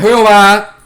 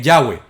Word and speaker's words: Yahweh: No es Jehová. Este, no, la verdadera pronunciación es Yahweh, que sale de la manera en que se escribe JWHw.